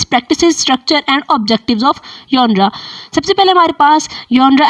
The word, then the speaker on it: genre: this word is pronounced as जॉनरा, जिसमें हम लोग तफसील से